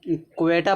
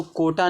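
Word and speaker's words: quota: इसको हम क्वेटा पढ़ते हैं। क्वेटा इसको कोटा नहीं पढ़ते हैं।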